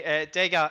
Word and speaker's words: DEGA: DEGA, am I pronouncing it right, by the way, guys?